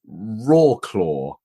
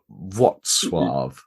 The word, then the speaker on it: Wrocław: Well, it looks like Wroclaw. But yeah, it's taken me a little while to come round to its Wrocław.